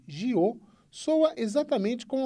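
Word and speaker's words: 九: A palavra para o número 9, que em mandarim pronuncia-se Jiu, soa exatamente como a palavra para longevidade em Taiwan, e por isso o horário e a data foram escolhidos para a cerimônia.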